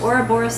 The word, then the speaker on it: Ouroboros: Yeah, Ouroboros. Ouroboros steaks, after the snake that eats itself.